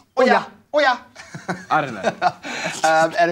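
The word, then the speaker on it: Oia: The island is home to Oya. Oya. Oya. You're going to say it like you're calling someone over.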